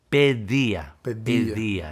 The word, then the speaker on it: paideia: E outra palavra, eu não sei como pronunciar, paideia. Paideia em português agora, paideia, né? Paideia. Mas no grego a pronúncia mais é pedia.